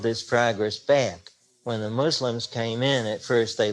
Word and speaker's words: Muslim: And following up on that question, what's the difference between Muslims and Muslims? Oh, no difference. Muslim is the correct way to say it, and Muslim is just a Western corruption.